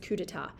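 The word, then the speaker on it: coup d'état: coup deat but it's a French word it's pronounced cudata cudata means an overthrow a bloodless overthrow of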